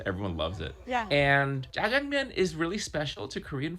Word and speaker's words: 짜장면: All right, Nick, I'm going to ask you to help us all pronounce this dish correctly. Jjajangmyeon.